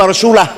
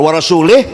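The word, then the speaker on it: وَرَسُولُهُ: Bacanya wa rasulah. Kalau wa rasulih, Allah tidak melindungi orang musyrik dan tidak melindungi Rasulullah. Tapi kalau wa rasulah, Allah dan Rasulullah.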